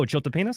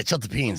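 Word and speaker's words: chiltepín: Oh, chiltepenis? Yeah, Chiltepenis. yeah, chiltepeens, not chiltepenis.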